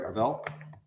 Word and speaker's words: Arval: Arval, last name is Arval. A-R, VAL. Arvel. Yeah. Did I say it right? Arvel? Arvel? Yeah.